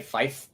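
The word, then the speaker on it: five: So instead of 5, I'll say fife because that's how it comes through the radio waves properly, so the other side can hear you without any confusion.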